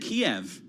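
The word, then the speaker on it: Kyiv: different like for example we said Kiev collectively as an American society until like a few until last year right then all of a sudden everybody decided to say ke instead one one syllable well it depends on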